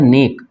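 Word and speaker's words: know: तो ये हो गया नेक एंड के इसको पढ़ेंगे ने उसी तरह ये है के एन ओ व ठीक है इसमें के साइलेंट हो जाएगा और इसको हम करेंगे नो क्या पढ़ेंगे नो ठीक है ना यहां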